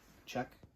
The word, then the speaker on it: Czech: say pronounce it chisek it's czech right so you pronounce like that country czech like czech republic i don't know anyway